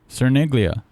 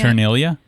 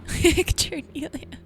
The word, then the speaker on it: Cerniglia: Cerniglia. That's not how you say your last name. It's not? I learned recently. We've been saying her name wrong. I feel like Cerniglia? as like a white person, we can't. Chernelia? As like a white person, we shouldn't pronounce it the other way.